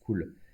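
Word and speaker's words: CeWL: vous présenter c'est cool alors ça c'est crise c'est eux w elle mais ça se prononce cool ça permet de générer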